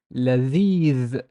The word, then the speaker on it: لذيذ: Notice it's soft lam. It's not l. It's la, la. And there's the with no vowel, but there's an ya after it, so it's لذيذ.